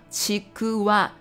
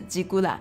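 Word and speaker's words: ちくわ: 竹轮日语发音叫吉古瓦，吉古瓦。不是吉古啦，吉古啦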